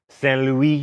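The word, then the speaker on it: Saint-Louis: Oh, Stan, don't make me say it right. Fine. Saint Louis, and at a town called Gorée, both in Senegal.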